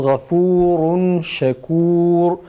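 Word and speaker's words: غَفُورٌ شَكُورٌ: Fa'nın ötresi okunduktan sonra dudak geride, ondan sonra ra okunur. Yoksa ötre güzel çıkmaz. Şu şekil. Gafurun, gafurun. Fa'nın meddi bitince, meddin bitiminde hemen dudak geride ve ra harfini dudağı geriden öne doğru götürerek okuyoruz.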